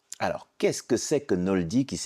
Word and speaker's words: Knowldy: fondatrice et présidente de Noldi. Yes. Alors, qu'est-ce que c'est que Noldi ? Qui s'écrit K N O W L D Y ? Ouais. Donc déjà, c'est basé sur tout no en anglais, la connaissance, le savoir.